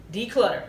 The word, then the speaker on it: Decluttr: I'll spell it DECLUTTR. No E. Declutter. DECLUTTR.